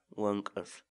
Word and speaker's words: wank'ar: series videos where we teach you how to pronounce certain words in Quechua so our word of the day for today is one curve one curve one curve in English the Quechua